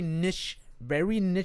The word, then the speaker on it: niche: It's a very niche thing in a niche hobby, So it's like, well, no, gaming's not niche anymore.